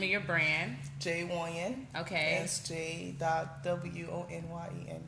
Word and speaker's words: Wonyon: Wonyon. Okay. That's J.Wonyen. So it's pronounced exactly how it's spelled.